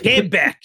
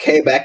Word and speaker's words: Quebec: Say like Quebec and then give your 7-year-old a cigarette.